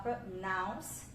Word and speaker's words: pronounce: substantivo do verbo, porque no verbo a gente fala pronounce, apesar que no início é igual, né? E no final aqui, naus, a sílaba tônica, né?